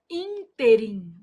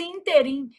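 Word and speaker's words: ínterim: A palavra interim apresenta erro de prosódia quando pronunciada como oxítona. O povo vai lá e fala assim: Ah, nesse inteirm, inteirim, gente, é moço de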